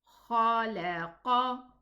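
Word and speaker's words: خلق: If I do not elevate the qaf in my pronunciation, it's going to be a kaf. I'm going to say ka, but it's qa. The difference is that one is elevated and the other is not. So to read this word, consisting of those 3 letters, we pronounce it like this. Khalaqa. Again. Khalaqa. Don't elevate the lam. Don't say khalaqa. No, it's khalaqa.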